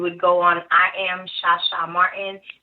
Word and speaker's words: Chacha: So if you go on my Instagram, you would go on I am Shasha Martin. It's spelled like Shasha because my family's from Haiti. So that H sound is that SH sound.